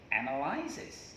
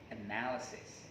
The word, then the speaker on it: analysis: Then many people say analyzes, okay? Maybe some of you are also mistaken. Analyzes, because people think that because the word analyzes comes from the word to analyze, then therefore the pronunciation remains the same. Analyze, analyzes, right? However, if you check in your dictionary, no, it's mistaken. As a matter of fact, the correct one is analysis, okay?